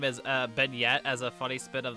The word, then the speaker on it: beignet: It's beignet, as like the French donut. That's what it means, right? But I said bayonet, which is just me being stupid.